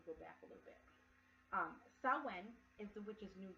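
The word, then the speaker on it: Samhain: spelt SI m h AI n but it's pronounced so when i'm in his October thirty-first which is Halloween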